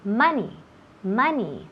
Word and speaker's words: money: Month se escribe M-O-N-T-H, pero esa O se pronuncia como si fuera una A. Month. Igual cuando decimos money, dinero, nunca decimos money, no, otra vez típico el Spanish, no queremos esa pronunciación. So, money, también month, esas O's se pronuncia como si fueran As, okay?